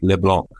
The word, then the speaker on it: LeBlanc: And so Canadian Public Safety Minister Dominique LeBlanc, that's how they say it up there, Dave.